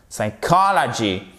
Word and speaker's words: psychology: Parce qu'en plus, si vous mettez le P, vous allez voir que vous allez avoir du mal à prononcer l'accent tonique au bon endroit.